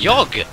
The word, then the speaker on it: jag: Jag is the last word. Jog. Yoga. Jog like yoga. Like jag. Jag. Jag like his... as in yoga.